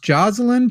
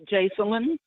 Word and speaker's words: Jacelyn: We'll start off with, I think this is pronounced Jocelyn, perhaps. Is this Jocelyn? How do I say your name? It's Jacelyn.